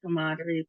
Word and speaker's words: camaraderie: And then we have the sound for camaraderie part. And then we have the the long E sound. So let's try it. So our emphasis is in for the second syllable to the middle of the word.